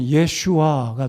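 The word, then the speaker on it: ישוע: 바람을 구약적인 히브리어 발음으로 하면 이에 허슈와 또는 예슈와가 됩니다 그래서이 예라는 발음이 라틴어 도고 영어로 옮겨가면서 지사스가 됐다고 생각하는데요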